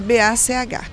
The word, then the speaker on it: Bach: Lá fora eles falam Bach, porque é B-A-C-H, né, como músico. Mas aqui nós adotamos a pronúncia Bach e assim fica, né?